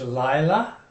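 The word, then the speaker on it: לילה: it's a night is Lila Lila the accents on the first syllable the plural is leot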